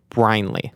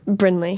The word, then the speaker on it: Brinley: with everybody okay we just learned how to pronounce her name mhm on one two threea hey you did wait wait last name bryley Brinley Brinley God okay it's actually not my last